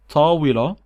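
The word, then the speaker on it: طاولة: For example, tawila, which means table, tawila, and at the end I'm saying tawila. I'm not saying T at the end, even though tawila ends with this T.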